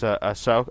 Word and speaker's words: Ahsoka: The character of Luke Skywalker's Padawan, I always pronounce her name wrong. It's Ahsoka.